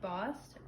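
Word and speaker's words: Bast: a very popular goddess named bost that is spelled b-a-s-t that the ancient egyptians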